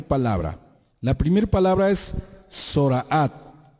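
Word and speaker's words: Zoraát: La primera palabra es Zoraat. En otros lados la pronuncian Zaraat o Zarat.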